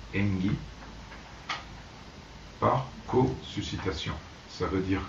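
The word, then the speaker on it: 縁起: est passé directement en japonais où il se prononce engi par cosuscitation ça veut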